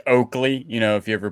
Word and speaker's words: Oakley: like two l's or two r's like like oakley you know if you ever bought like a pair of fake oakleys it's spelt wrong it's not it's not a mistake